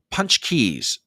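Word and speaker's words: pączki: I think TBA I can kind of explain punch Keys oh that's how you pronounce it punch Keys punch Keys okay punch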